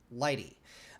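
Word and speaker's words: lighttpd: you the server that i'm using which is lighty which is pronounced lighty and it's really uh spelled l-i-g-h-t-t and it's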